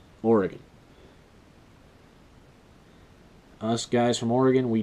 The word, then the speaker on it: Oregon: home state of Oregon it's not Oregon it's or e gun just like I say Oregon us guys from Oregon